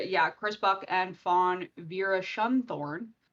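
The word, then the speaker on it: Veerasunthorn: chris buck and fawn vera schumthorne that is her real last name vera sun thorne it is exactly how it's spelled uh outline story which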